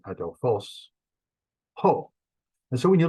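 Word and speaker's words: ἀδελφός: learn the word like adelphos remember like brother Bill Adelphia Brotherly Love or love a brother adolphos is brother and the accents on the end it's a smooth breathing adolfos oh and so when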